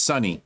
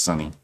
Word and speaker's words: Suni: We were like, without Simone, it's pronounced Sunny. My bad. Shorty just texted me. She says pronounced Sunny. Thank you. Thank you, babe. Sunny Lee has brought home the gold.